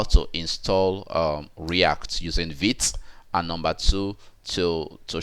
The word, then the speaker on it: Vite: way of um installing react now which is vit okay vit is almost spelled as as v but pronunciation is vit okay so now if you